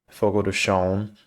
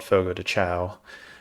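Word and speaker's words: Fogo de Chão: basically a steakhouse uh think of Fogo toon is how it's pronounced but you probably have heard it called Fogo toow um that's essentially a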